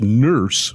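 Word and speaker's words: Nourse: read was Alan e it's pronounced nurse but spelled n o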